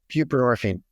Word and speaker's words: buprenorphine: buprenorphine.